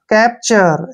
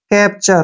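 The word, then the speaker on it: capture: का उच्चारण प करेंगे टी के साथ अगर यू आता है तो उसका उच्चारण क्या करते हैं हम च ऐसे च आर का उच्चारण र करेंगे ई का उच्चारण हमने नहीं करना है कैप्चर ऐसे कैप्चर कैप्चर क्या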